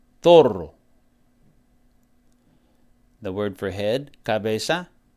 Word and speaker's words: zorro: And they would say zorro.